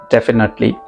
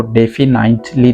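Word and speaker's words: definitely: यहाँ पर आप बिल्कुल पक्का कह रहे हो, डेफिनेटली। याद रखें इस वर्ड की जो प्रोनाउंसिएशन है वो डेफिनाइटली नहीं है, डेफिनाइटली। अक्सर मेरे स्टूडेंट्स कहते हैं डेफिनाइटली, हमें कहना है डेफिनेटली, डेफिनेटली, इस तरह से।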